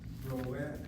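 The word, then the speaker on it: רועה: The word ro'eh with an ayin, the word ro'eh with an aleph are both pronounced the same way, ro'eh and ro'eh. But they are two different words by virtue of the fact that one has an ayin and one has an aleph.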